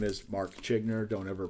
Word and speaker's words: Zschiegner: but anyways once again my name is Mark chinner don't ever pronounce it wrong when you see my name because I'm telling you exactly how I pronounce it now my name is Mark chinner and you have been watching X trending the